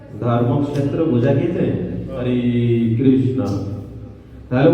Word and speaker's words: ধর্মক্ষেত্র: তারপরে ক্ষেত্র রক্ষেত্র ধর্মক্ষেত্র আমরা বাংলায় ধর্মক্ষেত্রে সংস্কৃত উচ্চার ধর্মক্ষেত্র ক্লিয়ার এবার ক্লিয়ার পরের পরেরটা